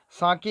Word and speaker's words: sake: here okay i'll just clean this up see saki is a popular japanese drink fla is pronounced like fine father and k rhymes with